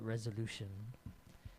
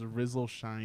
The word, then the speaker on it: RZLSHN: I used to call it Resolution, and it was spelled like with all caps. It was RZLSHN. Okay. Oh, is that what I was? Mm-hmm. I was completely mispronouncing that. I thought it was Rizzle Shine or something like that.